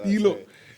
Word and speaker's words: Stylo: It's actually from the Spanish word estilo. Estilo. Yeah, meaning. That's it. Pronounced Stilo, not Stylo.